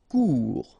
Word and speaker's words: court: Court, final T not pronounced, court. Remember, when you combine this O and U together, you get the sound OU, court.